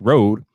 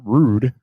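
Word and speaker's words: RØDE: going to be pronounced rude and that is what it is so that is why it is pronounced rude and not road because of that slash and the o right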